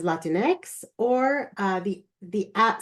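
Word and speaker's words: Latinx: Hispanic populations and so I add the letters a for Latin X to pronounce it as Latin X or uh the the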